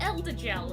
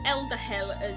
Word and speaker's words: Elder Gel: That must be an Elder Gel, and not an Elder Hell, or however Backset thought it should be pronounced.